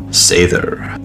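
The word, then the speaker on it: seiðr: to convey meaning sather many heathens are familiar with the term they misspell it as seder because despite me mentioning in countless videos we still translate the letter F into a d it's a th represented by the roon thrissas according to Jacob Grimm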